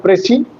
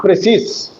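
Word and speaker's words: précis: But why is the pronunciation prey not precis? Because it is a French word.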